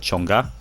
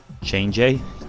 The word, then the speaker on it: Chang'e: not too sure on i've heard chonga change a chain gay like i've heard so many but i'm going to stick to change that's probably the one that i use naturally